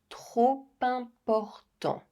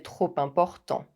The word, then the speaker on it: trop important: C'est trop important. C'est trop important.